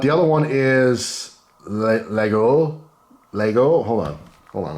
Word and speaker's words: Laguiole: I don't even I you don't even pronounce the G and I'm not even gonna begin to uh pretend like I know how to pronounce it but the other one is the Lego Lego hold on hold